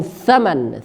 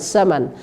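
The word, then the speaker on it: ثمن: saman yang benar adalah kam tsaman tsaman Jadi bukan samsaman attamarat attamarat bukan assamarat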